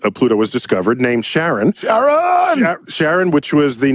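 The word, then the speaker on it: Charon: discovered Sharon was named Sharon okay some people pronounce it Kat Karen but but I I Sharon works for me and also the it's not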